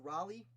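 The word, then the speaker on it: Rawleigh: raleigh raleigh colston it's i think it's pronounced raleigh but it's spelled r-a-w like raleigh so i don't know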